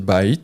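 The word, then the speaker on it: בית: Et ça se prononce ici bait, la maison.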